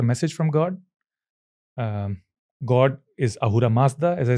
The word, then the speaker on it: Ahura Mazda: begins from there, because it's actually Asura Mazda, because they don't have the word. As I said, Sindhu becomes Hindu. Mm. The name comes from Persia, yeah, because the river Sindhu, they could not pronounce the S, so they changed it to H.